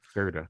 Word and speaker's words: Surtur: Surtur.